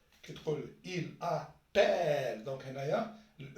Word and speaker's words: appelle: هنا النطق كيف نطقوه؟ هنا تقول vous appelez. donc E vous appelez. donc un seul L. كي تقول il appelle.